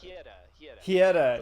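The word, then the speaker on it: Hyetta: It's not Ryetta. It's Lyetta. Something that rhymes with that. Hieta. Yeah, that's right.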